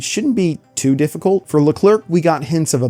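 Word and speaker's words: LeClerc: There are only two of them, Nenah and L. Clerk. Hello, future Brian I here. After re-watching Rebirth for the fourth time, I, an undereducated American, have realized his name is not L. Clerk, but pronounced Llair.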